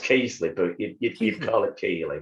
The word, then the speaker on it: Keighley: are from uh you know i hope i pronounce this right keeley keithley he's absolutely pronounced it's pronounced casely but you keep calling keely but yeah okay